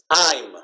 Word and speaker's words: I'm: okay this is pronounced I'm it's not pronounced it's not M okay I'm okay it's like this when you heard the word time okay when you have